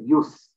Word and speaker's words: jus: I'll come through also the word j-u-s use pronounce it use perhaps one of the